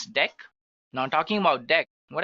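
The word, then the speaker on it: deque: have which is actually deck guys it is written as DQ but we can pronounce this as deck now talking about deck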